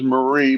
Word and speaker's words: Marine: minister she almost won her name is Marie but it's spelled Marine m a r i n e Marine you call her Marie Leen yeah and like in